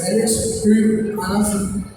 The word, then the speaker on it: Alex Høgh Andersen: It's very hard to pronounce my name because I'm from Denmark. So it's Alex Høgh Andersen.